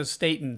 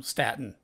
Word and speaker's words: Staton: stayed in there statin it's state Staton okay yeah yeah it's I think it's spelled like statin like Staten Island but he always so stateand so but even Edie fries calls him statin so a lot of people get that wrong but I'm pretty sure